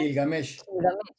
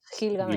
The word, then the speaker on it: Gilgamesh: Y luego del Gigamet, ¿cómo se pronuncia? Gilgamesh. Gilgamesh.